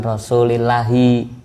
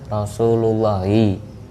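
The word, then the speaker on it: رسول الله: Kang Epi bacanya bukan Rasulillahi tapi Rasulullahi karena lafadz itu menjadi fa'ilnya lafadz kola dan fa'il termasuk isim-isim yang terbaca rofa.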